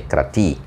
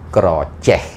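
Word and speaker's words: Kratie: Okay, in English you write Krathi, but for Cambodian people they never say Krathi. They gonna say Krocheh.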